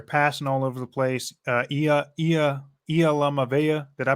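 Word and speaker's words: Iamaleava: Yamaleava, yeah, that's what it is. I was really hoping I would pronounce that right.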